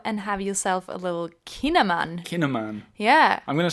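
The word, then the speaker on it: kouign-amann: g n Dash a m a n n kinaman so it's obviously written in the local dialect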